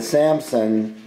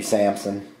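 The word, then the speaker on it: Salmson: We're calling it a 1932 Samson. I think that's how you pronounce it, S-A-L-M-S-O-N, that's what we're gonna call it.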